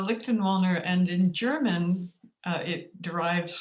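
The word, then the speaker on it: Lichtenwalner: spelled l-i-c-h-t-e-n is it how do you pronounce your last name uh lichten walner and in german it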